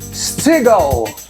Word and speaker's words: Steagall: Eu quero apresentar para vocês Cristian Stigal com D. Caramba, acertou a pronúncia do meu nome completa, nome sobrenome.